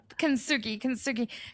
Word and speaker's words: Kintsugi: Can you pronounce it? Kintsugi.